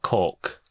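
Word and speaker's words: caulk: Yeah, but there's an L in it. But it's a very, very, very soft L. Cork.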